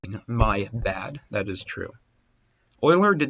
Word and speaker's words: Euler: know I'm not saying boiler with Abby its oiler I'll write his name on screen for you it's spelled like Euler but it's pronounced Euler like this so the fractions represent the ratios